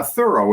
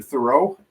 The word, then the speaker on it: Thurow: my first name uh thorough is how i pronounce it but i'll answer to thoreau um whatever you want